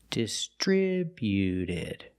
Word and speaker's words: distributed: When we add e d, the t at the end is between vowels. So, it's a fast d. Not distributed, but distributed. distributed. Put the stress on the second syllable only.